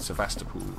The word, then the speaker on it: Sevastopol: we're up Sebastopol that's how we're supposed to pronounce it Sebastopol cornflakes bran flakes porridge oats do I not